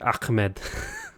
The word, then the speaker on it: Ahmed: Pronounce the H like you're choking. Ahmed.